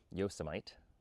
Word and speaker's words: Yosemite: Yosomite, as it's pronounced, became the center of that shift.